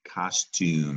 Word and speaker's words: costume: And it's not tum, though. We're going to look at the root word in a minute, but there's a silent E in the root of costume. That is a long U sound because that's silent E.